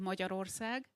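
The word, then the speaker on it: Magyarország: it quite well uh we say it moja rorsag so it would be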